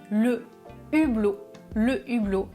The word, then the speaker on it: hublot: C'est un H aspiré. Je dis le hublot et au pluriel des hublots.